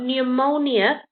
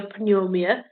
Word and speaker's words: pneumonia: go don't go precise so the p is silent then you've got pneumonia we don't go per pneumonia panumia we just start from